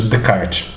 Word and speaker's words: Descartes: Se escreve Descartes, mas se pronuncia Descartes, tá?